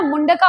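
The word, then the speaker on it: Mundaka: मुंडका उपनिषद से। उसे मंडका भी बोला है। मुंडका उपनिषद है। पर्टिकुलरली संस्कृत का शब्द तो मंडका भी कह सकते हैं क्योंकि इंग्लिश में प्रोनाउंस वैसे ही कर रहा है।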